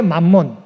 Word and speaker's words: 맘몬: 영어의 맘몬, 발음상으로는 매몬이라고 발음하게 되는데 영어의 맘몬이 이 단어에서 나왔습니다.